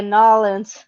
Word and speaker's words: New Orleans: yeah, Nolans. That's how they say it down there.